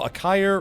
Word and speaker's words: Akaya: Oh, Akaya rhymes with a fire.